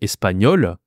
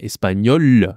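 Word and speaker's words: espagnole: Par exemple, espagnol, pas de E à la fin, espagnol avec un E à la fin, mais c'est la même prononciation.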